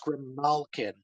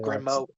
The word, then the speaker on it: Grimalkin: actually it's actually pronounced Grimalkin, Okay, not oh, Grimo.